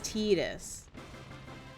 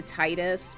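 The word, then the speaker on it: Tidus: This steel it is, but I I spelled it so that way everyone knows how to pronounce it properly cuz it's Tetus. though. Like I will excuse the Titus because uh right I like after the stream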